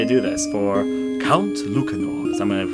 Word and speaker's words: Lucanor: Hey everyone, this is the Count Lucanor, which also might be pronounced as Count Lucanor, but I'm going to probably call him Lucanor. It's not Luchage or whatever else, but anyways, to talk